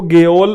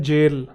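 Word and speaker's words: gaol: अब ये लगेगा आपको गल और वो लगेगा गोल। जबकि इसकी प्रोन्सिएशन है जेल। यह थोड़ा आर्किक वर्ड है। इसकी एक्चुअल जो प्रोनंसिएशन है वो जेल है।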